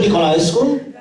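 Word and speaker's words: Nicolaescu: of years ago, but you have to help me with his pronunciation. Niculescu. I think his name is Sergio Niculescu. He made Romanian films. Sergio Niculescu? Yes, that's exactly right.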